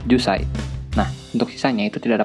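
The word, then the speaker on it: 十歳: Nah, untuk angka 10 harusnya kan ju, tapi hanya dibaca jusai.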